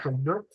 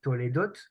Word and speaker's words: Toldot: Et aujourd'hui, à travers cette paracha Toldot, ou Toledot, tout dépend de la façon que le prononce, ça m'a fait rappeler justement ceci.